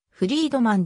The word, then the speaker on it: フリードマン: なっているがポーランのその他での発音はフリードマンであるハイデルベルクで方角と